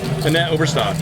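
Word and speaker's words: Annette Obrestad: But, you know, you read some books, you read stories about, for example, like, I want to say her name right, Annette Overstead? Annette Oberstad.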